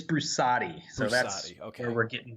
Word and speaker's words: Brusatte: pronounced your last name is it brusset it's brusatti so that's where we're